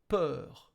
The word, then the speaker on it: peur: In these words, peur. You can imagine then that the letter U is silent, like peur, P-E-R. It's as if you had only P-E-R.